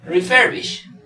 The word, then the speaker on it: refurbish: En este caso es refurbish, refurbish, refurbish. Entonces vemos que la mayor fuerza de voz está en refurbish.